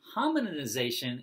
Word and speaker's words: hominization: but he calls it hominization. So it's like hominin, like the species, hominization.